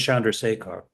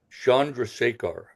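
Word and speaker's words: Chandrasekhar: Uh yeah, I learned it's Shandra Sakar. Yeah, Shandra Secar.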